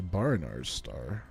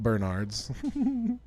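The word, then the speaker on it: Baranar's Star: Bernard's. Barinar's. Sorry, Barinar's Star. Not Bernard's.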